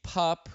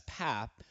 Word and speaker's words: Papp: said let's get started today I have pup who people have mistakenly pronounced it as path also known as I used to call